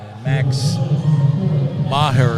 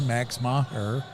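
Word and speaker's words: Meagher: He puts another sub in that hasn't played, Max Maher. I think that's right, Coach. It's spelled M-E-A-G-H-E-R.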